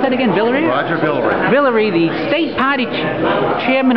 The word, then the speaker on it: Villere: Here with Roger, can you pronounce that again? Villere? Roger Villere.